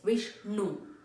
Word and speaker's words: Vishnu: here repeat three times when you're pronouncing the na your tongue has to touch the upper portion of your mouth no it's not Vish no it's Vishnu Guru wish no